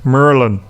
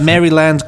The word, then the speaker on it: Maryland: emailed from he says the natives pronounce Maryland he's written mu u mu R R LAN Merlin Merlin Merlin though if you want to do the standard British version merry lads maybe one but merry land cookies yes well get